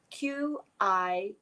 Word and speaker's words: qigong: might be for you to look into qigong it's spelled q-i-g-o-n-g qigong it's spelled different ways but that's the